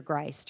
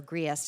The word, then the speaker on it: Griest: One such member, funny that you should mention her, is Major Griest, or Griest is my understanding is how it's pronounced.